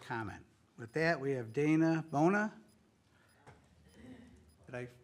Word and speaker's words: Dana Bona: With that, we have Dana Bona. Did I pronounce it?